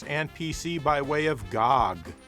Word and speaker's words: GOG: PC by way of Gog that's how you say it right Gog this is an early